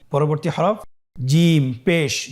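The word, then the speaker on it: ح: পরবর্তী হরফ জিম পেশ জু, জিম পেশ জু, জি জু, জি জু। পরবর্তী হরফ হা। আমরা জানি হার উচ্চারণ কোথা থেকে হয়? কণ্ঠনালীর মধ্যখান হতে।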